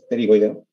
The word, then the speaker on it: pterigoideo: Bueno, para que lo que yo sé es que no se pronuncia la P, o sea, no es pterigoideo o pterigoideo, es pterigoideo.